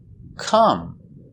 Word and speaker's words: come: Come. That's right. Come is with an O, but pronounced come.